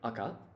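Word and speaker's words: 赤: And so the pronunciation here is shiro and aka.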